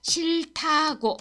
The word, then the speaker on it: 싫다고: 여기에서다고 이거 한번 볼게요 이게 발음이 조금 어려워서 자음 받침 두 개 있어요 세이노 할 때요 실다고 아아 이거 발음 어떻게 할까요 자 실하고 시에 히 다 고데 이거는 이렇게 발음하세요 그냥 실타고 이렇게 하시면 돼요 이렇게